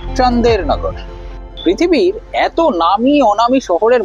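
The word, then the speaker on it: Chandernagor: কিন্তু মূল ফ্রেঞ্চ ভার্সনে ছন্দ মেলাতে গিয়েই প্রফেসরের বলা সেই জায়গাটার নাম হয়ে যায় চন্দননগর যদিও এক্স্যাক্টলি চন্দননগর নয় ফরাসিদের উচ্চারণ অনুসারে চান্দেরনগর পৃথিবীর এত নামী অনামি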